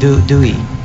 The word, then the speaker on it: Dewey: No, because Pinoys pronounce Dewey as Dewey. Dewey. They yeah. say Dewey Boulevard. Really? Yeah. They say Dewey. but it's Dewey. Okay, like Huey, Louie, and Dewey.